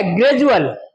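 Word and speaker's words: gradual: डी यू ए एल डी के बाद में क्या आया है? यू ए एल आया है तो ये क्या हो जाएगा? डी का क्या बन जाएगा? ज बन जाएगा। क्या बन जाएगा? ज तो क्या हो जाएगा? ग्रेजुअल।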